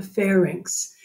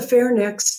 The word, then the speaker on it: pharynx: this structure the pharynx the pharynx it's not the fair next don't call it the fair next it's the pharynx and the pharynx is spelled weird but you just think of it as like Bob wants to tell me some of his ink and he's asking for a fair price so these are pharynx